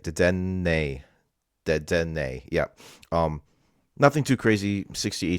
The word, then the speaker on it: Dedenne: Next we have first of all, like this card, Deden. God, I always forget how to say this card. Dedenne, right? Dedenne.